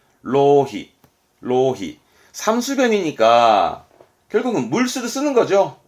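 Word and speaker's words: 浪費: 뭐 발음은 로히.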